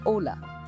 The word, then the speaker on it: hola: the word hola hello starts with H but you only pronounce Ola the same goes for